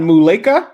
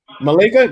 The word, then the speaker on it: Malika: I just wanna go ahead and let y'all know that I am Muleka. Is that how you say it? Malika.